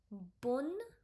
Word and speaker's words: bonne: Here we are stressing on double N. It become bonne. This will also be bonne. But this will be like bon. So it is bonne journée.